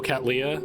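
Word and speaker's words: Cattleya: Oh, it's pronounced Catleya? Oh, Catleya.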